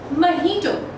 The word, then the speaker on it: mojito: No, mojito is wrong. We call this particular mocktail as mojito. Mojito or mojito. It is pronounced as mojito in the British English, and